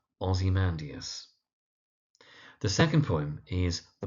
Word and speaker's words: Ozymandias: Now the mispronunciation that you often find is someone calling it Ozymandias, Ozymandias, or very occasionally Ozymandias. But the poem's name is Ozymandias.